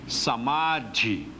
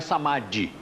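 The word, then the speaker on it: समाधि: O DH de Dharana, olha o som aqui, Dharana, é diferente do DH com Y ou com I. Como é que se pronuncia aqui? Dharana. E aqui? Dhyana. E aqui? Samadhi. O som muda.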